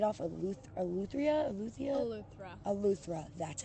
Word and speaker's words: Eleuthera: Eleuthera, that's how you say it.